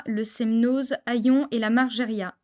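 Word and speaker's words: Margériaz: semnose aillon et la margeria attention on ne prononce jamais le Z pour ne citer que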